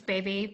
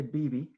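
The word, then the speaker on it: bebe: gonna i don't know i think it's baby but i'm not sure that was our guest we had to look it up it's actually bibi yeah yeah oh i've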